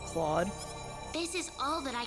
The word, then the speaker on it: Claude: wasn't going to stop accidentally Mis pronuncia him as Cloud instead of Claude this is all that